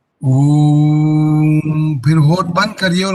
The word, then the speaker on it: ओम: ओम, उनके 3 माननीय उच्चारण है, फिर बहुत सारे और भेद भी है। एक उच्चारण है अ वत्ता उ, ओ बनेगा ओ। अ वत्ता उ, ओ भी बनता है और ऊ भी बनता है ऊ, लेकिन ओ उच्चार करेंगे ओ।